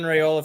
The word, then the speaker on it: Raiola: His last name is spelled Raiola. Yeah, Dylan Rayola from Pinnacle High School in yeah.